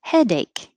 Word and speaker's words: headache: four participants participants and headache two syllables headache anything that's an ache will put the emphasis on the first part headache backache stomach ache toothache the important part is the body part failure it's two syllables